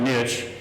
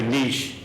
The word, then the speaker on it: niche: But over the weekend I saw one, now I pronounce it niche, other people say niche, so pick their choice.